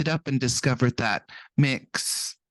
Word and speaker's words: Mx: up and discovered that mix MX yeah pronounced a mix has been suggested that's